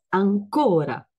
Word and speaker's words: ancora: è una un'ancora ancora ancora l'accento è sulla prima a ma se voglio dire ancora in italiano è ancora quindi l'accento sulla la o in francese Esistono delle